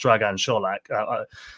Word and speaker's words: Dragan Solak: By the way, he actually told us that his name's pronounced Dragan Solak. I don't know if that's going to catch on because everyone's so used to it being Solak now, but I may slip